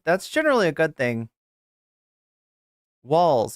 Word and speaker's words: Walz: generally a good thing walls it's just pronounced walls okay it's not Walts anyway anyway yeah it's